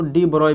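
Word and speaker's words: de Broglie: ही लिखा जाता है, शुरू होता है स्मॉल डी से, उसको ब्रोगली, या इसको आप प्रोनाउंसिएशन देखा जाए तो इसको डी ब्रोय भी कहते हैं।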